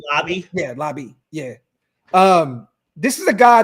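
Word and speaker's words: Laube: Yeah, Lobby.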